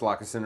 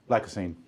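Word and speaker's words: Lacassine: Is that That's pronounced Lockasen, right? Lacasine.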